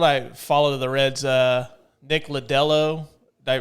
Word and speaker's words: Lodolo: I mean, from what I follow the Reds, Nick Lodolo, did I pronounce it right? Oh, Lodolo, yeah.